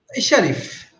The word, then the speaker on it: Sharif: like good yeah okay so sheriff how do you pronounce it it is sharif or shari sharif yes okay i have a friend